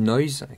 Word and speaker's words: Noise: tester l'application qui s'appelle Noise qui est disponible sur l'App Store. Ça s'écrit comme noise N O I S E. Nois, c'est la femme de noix.